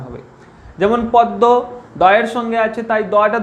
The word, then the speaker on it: পদ্ম: পদ্ম। এর উচ্চারণ কিরকম? পদ্ম। এর উচ্চারণ দেখে এটা উচ্চারণ পদ্ম। প দয় ম, দয়ের সঙ্গে আছে, তাই দটা দুবার উচ্চারণ হচ্ছে।